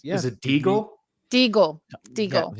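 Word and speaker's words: Déagol: Regal, it rhymes with Smeagol. It's something like that. Yeah, and it's Is it Deagle?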